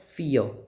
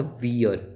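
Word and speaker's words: vier: फियर नॉट वियर। बच्चे बहुत mistake करते हैं। जहां पे भी ये मिलता है, फ़ाओ मिलता है। इसको वो प्रोनाउंस करते हैं। बट इसका प्रोनाउंसिएशन क्या है? फ।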